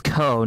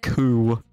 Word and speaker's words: Ko: Okay, so his name was Ko, not Ku.